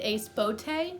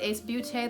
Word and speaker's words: Ace Beauté: First off, it might be pronounced Ace Beauté because in French, B-E-A-U is pronounced beau.